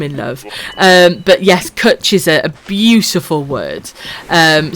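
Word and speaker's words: cwtch: try and do it try and type out the word kutch phonetically is how you pronounce it it's actually really difficult to type out because i was trying to phonetically explain to borrow how to say the word yes but then people say catch or cooch it's really hard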